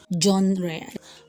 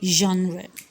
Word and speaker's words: genre: the g later examples i have here are genre although you can still say john ray but i prefer genre and they have next one to be jiggle